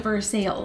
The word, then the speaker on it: Versailles: Versailles Kentucky Well actually in Kentucky they pronounce it for sale correct in mid-november of 2020.